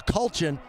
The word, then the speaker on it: Kulchin: The play fake was to nobody, but the pass was to a Kulchin. That's how you say it, Chris.